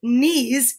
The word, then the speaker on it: knees: of words that start with the same sound not necessarily the same letter because as we know with nana's knees nana is n and these is k because it's silent right and we learn all